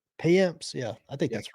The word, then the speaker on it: Payamps: Payamps. Payamps.